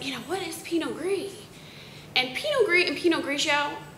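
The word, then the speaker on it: Pinot Gris: we started out making Peno gree and everyone said you know what is Peno gree and Peno gree and penio are the same grape one is the French pronunciation one is the Italian pronunciation but essentially it's the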